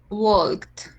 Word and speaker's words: walk: Eh, esa sería walked. Walked. Okay. Muy bien. T. Correct. Walk. Acuerda que ahí esa L no suena, se llama drop letter. Se va cuando lo pronunciamos Wed.